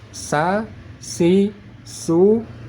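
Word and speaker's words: س: anginnya lebih tebal sedangkan jika huruf Sin sa si ingat pangkal lidah ditekan ke bawah supaya tidak naik ke atas sa si su bis sa si su Bis bisa dibedakan makanya cara baca huruf Sin agar tipis tidak tebal maka pangkal lidah kita tekan ke bawah supaya tidak naik ke ke atas kalau sudah naik ke atas berubah menjadi huruf sad Alhamdulillah baik kita lanjut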